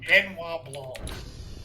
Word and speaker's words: Benoit Blanc: Benoit Blanc.